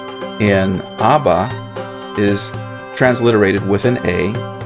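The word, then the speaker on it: אבא: that indicates is that that b is a plosive b it's pronounced as a double b in other words so that's why the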